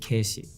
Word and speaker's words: Keshi: So whenever they said Casey, they would pronounce it Keshi.